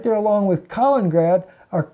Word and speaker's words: Kaliningrad: And of course, Latvia there, right there along with Kaliningrad, or Kaliningrad. Everybody says I don't pronounce the other I-N. I pronounce it the Alabama way, so I know people